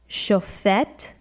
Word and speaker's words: shofet: Next we have shofet or shoftim, with the accent on the last syllable, means judge or in plural, judges.